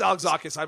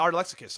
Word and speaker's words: Alexakis: I know it's Alexakis. Why would I say like- Art Lexicus?